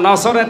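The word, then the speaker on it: نصر: সূরা নসর, কোন সূরা? বলেন বলেন, নসর না নাসর? নুন সোয়াদ র।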